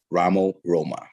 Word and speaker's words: Ramo Roma: Ramos Roma.